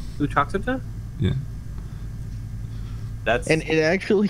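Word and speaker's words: Uttoxeter: How do you spell it? Put it in game chat. Truckster? I wouldn't. Untruxitia? Utoxeter. Utoxita?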